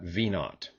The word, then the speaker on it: v naught: the british would and they would actually pronounce that 0 as just the word not so we'll call that v naught and that just means